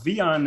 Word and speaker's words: Wiehan: my native language is afrikaans and so the v on is actually it's a v sound but it's spelled w-i-e-h-a-n um and so yeah originally from